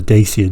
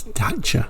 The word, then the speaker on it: Dacia: 1983 I used to call these daers the daier denim but apparently that is not the correct way to say it apparently it's data but I didn't pronounce it like that at